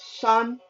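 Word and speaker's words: 三: Moving on, number three, sun, like sun, but again, like the word sun, but you have to say it as sun.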